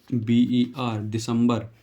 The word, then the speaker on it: December: उसके बाद आता है दिसंबर, दिसंबर को मैं यहीं बता देता हूँ आपको, इसकी स्पेलिंग होती है DECEMBER, दिसंबर।